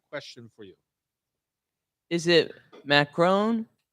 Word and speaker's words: macaron: Is it macaron, macaroon, Macaron?